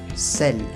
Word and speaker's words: sel: Si es la primera letra, se pronuncia como S, igual que en español. S. Por ejemplo, le sel, que es la sal.